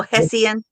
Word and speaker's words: Hessian: Hessen? Hessian. Hesse. That little Hessian. Yeah. Hessian. Like messy, but with an H.